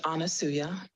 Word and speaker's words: Anasuya: of wisdom thank you my name is anasuya it reminds it rhymes with Hallelujah and I am called